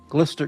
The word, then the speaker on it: Gloucester: Glister equals Gloucester.